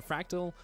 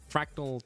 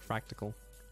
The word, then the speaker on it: Fractal: I know if you do, tell Fractal Twitter that you found on Origin PC Live, and I'll be happy about that. And don't tell them I mispronounced fractal and I said fractical.